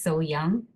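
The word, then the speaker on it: So-young: So I usually say the closest pronunciation for my name is so young so people can remember me my name so young and it's similar to my um actual name.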